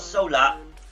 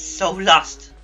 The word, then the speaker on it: Solust: It's not solar, it's Solust.